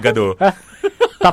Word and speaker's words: Gadot: No T. Gadot. As in Gado.